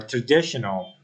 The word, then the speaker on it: traditional: the first letter P another word is tradition or traditional uh you know um EST in this word is on the letter d uh tradition traditional and